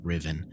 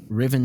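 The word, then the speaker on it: Ruthven: It's pronounced Riven. Riven Todd.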